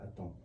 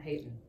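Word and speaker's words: Haton: It is Jean Noel Aton. It's not Hayton. No, it's not.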